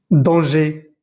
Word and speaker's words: danger: No vamos a pronunciar esa R final. Por ejemplo, en la siguiente lista. Danger, boucher, boulanger, cahier, papier, quartier, premier, dernier, léger, entier, pommier, bananier.